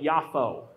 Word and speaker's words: Yafo: And what they call it now with the pronunciation is more like Yafo.